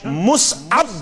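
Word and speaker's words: مصعب: ताला मुसअब बिन उमैर मुसअब गस न असली वनुन के असली सही प्रोनाउंसिएशन मुसअब बिन उमैर रदियल्लाहु ताला अम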